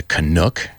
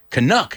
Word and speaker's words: Canuck: What is a Canuck?